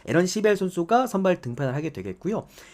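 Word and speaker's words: Aaron Civale: 오늘 미로키 선발 투수가 서발레 뭐 에런길이죠. 그러니까 영어대로 그대로 읽으면 우리가 우리나라에서 이제 어 서발레 이렇게 뭐 소래 이런 식으로 읽는데 그냥 영어대로 읽으면은 에런 시벨이라고 읽으시면 됩니다. 에런 시벨 선수가 선발 등편을 하게 되겠고요.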